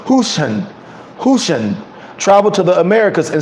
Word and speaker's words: Hoshan: In the 4th century, a Manchurian Chinese missionary under the Shang dynasty named Hoshan, H-O-S-H-A-N, or pronounced Hushan, traveled to the Americas in search of his people.